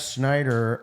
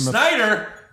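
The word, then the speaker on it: Sneider: above the lines Jeff Schneider uh said they told me there's a cider not a different Schneider oh Schneider sorry yeah it's spelled differently they told me there's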